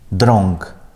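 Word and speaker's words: drąg: Бачите, коли «он» або «ен» стоїть перед «г» і «к», то там цей звук зміняється «н». Ми чуємо «н». Наприклад, «бонг», «дронг», «обценгі», ні?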